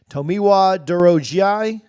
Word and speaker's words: Tomiwa Durojaiye: Again, not the easiest name, doesn't just roll off the tip of the tongue, but Tomiwa Durojaiye is what I've got for that. That's how it was phonetically listed on West Virginia's website as he transfers in